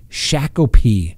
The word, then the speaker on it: Shakopee: Now, Potter was then transferred to the Minnesota Correctional Facility at the Shakopee. I'm sure I mispronounced that, but it's S-H-A-K-O-P-E-E.